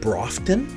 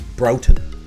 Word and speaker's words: Broughton: much of a problem i've heard brofton brofton uh it is broughton broughton street it's right downtown this